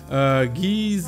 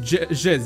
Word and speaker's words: Jez: Hopefully this time I pronounce his name correctly, because last time I said Geese and he said what? Okay, so he's from Jez.